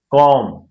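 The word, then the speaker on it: comb: कॉम your hair. कॉम hair. कॉम your hair. कॉम your hair. कॉम your hair. अब क्या है? एम के बाद बी साइलेंट रहता है।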